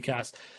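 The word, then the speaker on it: CXaaS: to CX cast um which is also still pronounced cast um which is good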